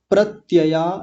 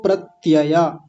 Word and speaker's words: प्रत्यय: उच्चारण करता हूं अभाव प्रत्यया लंबना वृति निद्रा सबसे पहला शब्द है अभाव दूसरा शब्द है प्रत्यया देखिए इस शब्द को कई बार गलत बोल देते हैं प्रत्य बोल देते हैं प्रत्य प्रत्य नहीं